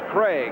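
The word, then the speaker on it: Krieg: problem there is young Dave Craig Kri eg but pronounced Craig and he'll be coming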